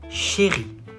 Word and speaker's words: chérie: Mon ou ma chérie. Chérie. Not chez, chérie. Chérie. Ri.